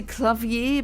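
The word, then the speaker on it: Klavier: one what's his name people always say clavier but um the the the word or the name is exactly spelled like the um the German word for a piano clavia so I always just called him clavia like the the German name essentially artistic Edward had Canon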